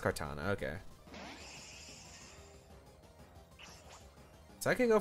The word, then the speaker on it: Kartana: Pronounced Kartana, okay.